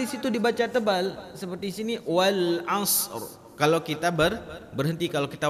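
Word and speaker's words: وَالْعَصْرِ: Yang kedua, harus ada huruf ra-nya. Jangan dibaca wal as.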